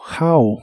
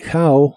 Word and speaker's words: how: que significa Cuánto dinero la o de how se pronuncia como a How la u de much